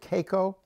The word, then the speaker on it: Keiko: led involved the Free Willy, how do you pronounce it, Keiko?